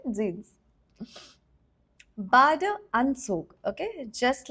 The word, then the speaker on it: Jeans: Okay, now this word jeans has been taken from English, so we retain the same pronunciation. We don't say jeans. We say jeans.